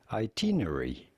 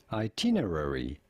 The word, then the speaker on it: itinerary: two pronunciations vary slightly in british english this is normally said as itinerary itinerary itinerary in american english however it is usually said as itinerary itinerary itinerary yes in